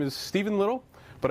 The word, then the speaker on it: Stephen: I my name is Stephen little but I also respond to Steve on because that's how it's spelled and all the Russians at work pronounce it that way so whatever just called